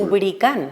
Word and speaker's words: lubricán: Lubricán. Lubricán, sí, con acento en la, por ser palabra aguda terminada en N.